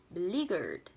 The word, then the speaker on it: beleaguered: Cho âm rơi vào từ ly và nó là âm y dài. Mình sẽ đọc cái âm ed bật lên thành là d. Và mình sẽ đọc như sau: beleaguered, beleaguered, beleaguered, beleaguered.